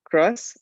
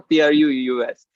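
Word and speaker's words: Cruz: pronounce, I forgot, like Cross." He said, "Cross." Cross. I asked him, how do you pronounce? Is it like CROSS? Like he said, "No, CRUUS, UZ."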